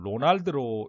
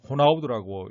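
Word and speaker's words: Ronaldo: 이 선수도 영어식으로 읽으면 로날드로 읽고 싶지만은 포르투갈어에서는 이걸 호나우두라고 읽는 것과 마찬가지입니다.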